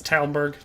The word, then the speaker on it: Talmberg: It's Talmberg.